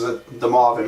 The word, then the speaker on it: De Moivre: rue de Maire serum but Abraham damoff probably French but everybody pronounces the Mavi mathematics he came up